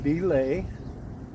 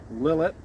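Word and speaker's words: Lillet: three an oun of lay or if you prefer the nonf frankophone pronunciation lilet and 3/4 of an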